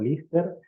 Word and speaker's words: Liste: Además de los largometrajes Santa Libertad, Liste, pronunciado Lister, La Cicatriz Blanca y